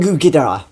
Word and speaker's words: Ghidorah: it King Ghidorah and in Japanese the pronunciation is King Ghidorah so yeah you can definitely hear an O in the name and then I mentioned